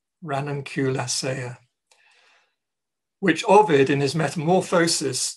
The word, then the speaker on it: Ranunculaceae: it's a rare flower of the crowfoot family pronounced in Latin Ranunculaceae. Ranunculaceae.